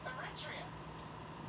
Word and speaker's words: Eritrea: How do you pronounce that country, Robert? Eritrea.